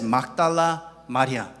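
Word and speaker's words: 막달라 마리아: Mary Magdalene in Korean is pronounced as Magdala Maria.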